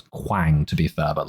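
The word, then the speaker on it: Kwang: overly harsh here the character's name was indeed Quang but I think someone may well have pronounced it Quang at some point during the episode which is why Abby thought that his name was Wong um however I don't know what the [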